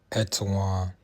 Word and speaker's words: Etowah: So this is how Etowah is pronounced.